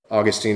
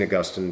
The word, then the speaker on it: Augustine: Augustine, Augustine, depends how you want to pronounce it, doesn't matter.